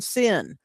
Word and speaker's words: Sin: Yes, that's how we are taught to pronounce that word for that wilderness, Samak Yod Nun, sin.